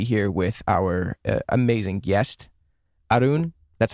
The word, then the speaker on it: Arun: But, so it's Arun. Arun is how you say it.